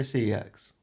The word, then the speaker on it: CEX: I definitely say CEX. Sex. It's computer exchange. It's an acronym. Yeah, an acronym, sex. An acronym is you pronouncing the word as it said, like NASA.